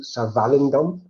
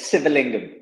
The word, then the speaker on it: Sivalingam: to do that we have Nelson show Nelson singam who are pronoun it correctly Nelson I never pronounced your last name before close civil lingum civil lingum ah okay Nelson civil inome now